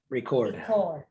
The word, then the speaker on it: record: if it is a verb what should we pronounce this as record if this is a noun we can just